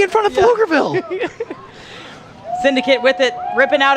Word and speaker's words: Pflugerville: Well, yeah, but the P is silent. No, it's the Pfield. So Pflugerville is Pflugerville?